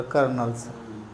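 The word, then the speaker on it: colonel: हा ma'am correct कनल silent आहे त्या एक स्पेलिंग पाठवल कर्नल त्याच्या नाही नुसत कर्नल म्हणतात पण स्पेलिंग कल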